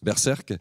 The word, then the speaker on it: Berserk: du projet alors je vais essayer de le prononcer juste berserc c'est juste Berserk présenté donc par Quentin estvz et Kevin ngo